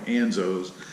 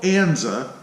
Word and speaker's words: Enza: on them ann's a-- which is a nza I think I've been pronouncing that name wrong actually in a lot of the videos I think I've been calling him Enzo's but their fuel Enza wheels and they have